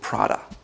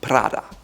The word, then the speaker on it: Prada: Most Americans call it Prada. However, it's called Prada, Prada, Prada. Again, rolled R on your tongue.